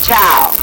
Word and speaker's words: Chow: And how exactly do you pronounce the name? Mr. Chow.